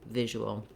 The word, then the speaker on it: visual: in the word visual visual has first syllable stress so the v or vish syllable is long and the ul syllables are shorter the first vowel letter i is the ih sound just like in it or is so you can think about it is visual to help you with